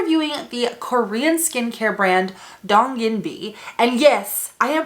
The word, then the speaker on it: Donginbi: video we are reviewing the korean skincare brand dong yin b and yes i am pronouncing that correctly because i reached out to